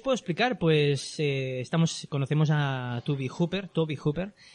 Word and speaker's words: Tobe: Pues conocemos a Toby Hooper. Es un director que se escribe Tobe, y teníamos un dilema de si se decía Tobe o Toby. Entonces, es Toby.